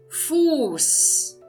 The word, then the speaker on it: Fuß: Fuß. Fuß. E aqui também eu estou pronunciando de uma forma longa o U.